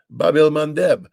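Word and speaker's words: Bab el-Mandeb: I mean, the Houthi have shut down the Red Sea, the Bab el Mandeb.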